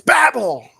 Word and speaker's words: Babel: It's Babel. Pronounce it right.